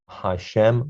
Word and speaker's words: Hashem: the hey with apostrophe remember that this is pronounced hashem or la shem because god's name is